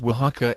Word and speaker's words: Oaxaca: It is Oaxaca and it has 2.7%, not 27%. And it is Tlaxcala and Guanalan. Even I, with a robotic voice, can pronounce better than that.